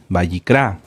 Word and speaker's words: Vayikra: de kilo r a bicra bicra lleva acento en la a en la última A bicra qué libro es